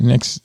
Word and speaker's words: NXIVM: Next NXIVM.